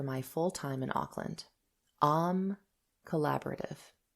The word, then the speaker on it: AME: Am collaborative. A M E is pronounced Am in French.